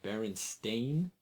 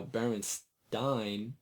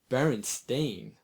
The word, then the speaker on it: Berenstain: make little jokes about most people clearly remember the sound Steen or Stein both would be how Baron Stein might be pronounced not Baron stain Thomas smiled that's a fair argument you're right I'll admit even now the correct pronunciation Baron stain sounds downright foreign the thing is we're